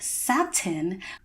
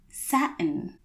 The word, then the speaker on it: satin: look at the word satin looking at it you might think that it's pronounced satin but actually within the general American dialect you would say satin now just so you